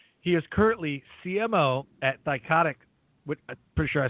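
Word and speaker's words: CyCognito: in shareholder value he is currently CMO at psychotic would pretty sure I spelled it uh pronounce that right psychotic that is correct awesome which will be the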